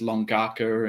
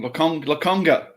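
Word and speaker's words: Lokonga: thought, I can't wait to play with Tavares, Longaka, and fucking John Tonkotsu. Tomiyasu, even I've learned I don't even think I got Longaka's name wrong. Lakonga.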